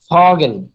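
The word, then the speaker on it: Vogel: এটা হচ্ছে ফ এর মতো উচ্চারণ হবে, যেমন ধরেন ফগেল।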